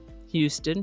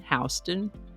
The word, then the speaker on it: Houston: of Prague in Oklahoma, sort of like the way the city of Houston is pronounced differently from Houston Street in New York City. Same spelling, different pronunciation. Houston, Houston, Prague, Prague.